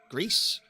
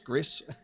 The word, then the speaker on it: Gris: Uh so I am aware that this studio did the game uh Gris Grease, however you want to pronounce it. GC. I'm pretty sure it's Gris.